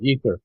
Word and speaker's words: aether: Yeah, ether. Ether. It's spelled in two different ways, E-T-H-E-R or A-E-T-H-E-R.